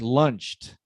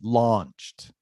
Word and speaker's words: launched: launched launched launched yeah but remember ah because it sounds like lunched like almost right so ah very open launched launched more more open